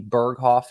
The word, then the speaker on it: Berghoff: Can people find you on Facebook at Maggie Berghoff? And am I pronouncing that right?